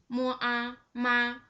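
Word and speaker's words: 妈: Okay, the first one with the first tone, the pronunciation should be just like this. Mo a ma.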